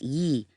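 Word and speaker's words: 易: Today pronounced ye in ancient days closer to le.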